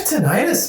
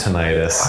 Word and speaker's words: tinnitus: Can we just talk about who in the world pronounces it tinnitus? Tinnitus? Like, okay, it's not arthritis, it's arthritis. Tinnitus. I don't know, man. I understand that they're both correct, I guess, by the audiology community.